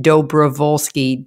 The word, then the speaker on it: Dobrowolski: name so if you don't know how to spell it it's tricky p doe bravolsky d o d-o-b-r-o-w-o-l-s-k-i go follow me there and